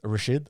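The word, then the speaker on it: Rachid: jumped on a tram so my name's rashid not a lot of people know that because most people will be like what's your real name that's rashid and it's spelled with a ch so a lot of people always got it wrong they always say richard and everything and um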